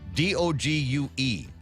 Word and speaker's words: Dogue: It's called Dogue, D-O-G-U-E. Oh, wait a second. Hold on, I said it wrong. They say it rhymes with Vogue.